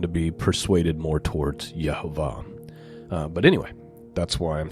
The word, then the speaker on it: Yehovah: I'm in the camp of believing that the way that God's name is pronounced is Yehovah, and that's based on a lot of scholarly work done by Nehemiah Gordon and some others.